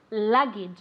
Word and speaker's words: luggage: good okay syllable sorry the accent on the first syllable let's see if look I can say this luggage very good luggage okay and it has that difficult sound the sound which is like a CH but softer luggage okay the next